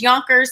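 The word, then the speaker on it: Jonkers: His name is Yonkers, spelled with a J, and he's supposed to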